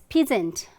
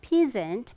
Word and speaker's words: peasant: So P-E-A-S-A-N-T, often you try to pronounce it the way it is spelled, right? You know the word P-E-A-P, right? So how you pronounce it, like it's peasant. Okay, it's not peasant, but peasant, peasant.